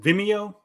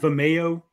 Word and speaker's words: Vimeo: I guess oh also it's pronounced Vimeo not Vimeo sir oh um oh